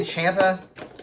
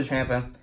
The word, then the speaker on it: Ciampa: I say Ciampa. Could be wrong, but that's what some people pronounce it differently.